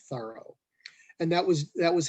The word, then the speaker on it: Thoreau: think that that's when jean terreaux anglicized his name to john thorough and that was that